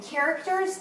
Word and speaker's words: characters: eyes this is interesting characters is spelled with a digraph a ch but we say so in that one the c keeps its own sound and the h doesn't join with it to make a new